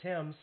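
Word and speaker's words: Thames: out to animation yeah trent tim's yeah which is spelt t-h-a-m-e-s yeah you get tim's out of that well there was a baseball player with the same last name and it was pronounced the same i go back to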